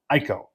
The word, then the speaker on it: IKO: Most of the top brands you'll find is GAF, Owens, Corning, Certainted, Malarkey, and IKO, or as they pronounce it, Ieko.